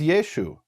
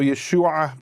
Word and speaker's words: Yeshu: They didn't pronounce the ayin, so Yeshua became Yeshu.